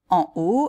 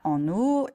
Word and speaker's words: en haut: et pas un o ils savent qu'on dit en haut et pas en haut la hauteur et pas l'auteur etc etc si